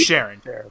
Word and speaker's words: Sharon: Her name is Sharon. See? But It rhymes with Karen close enough.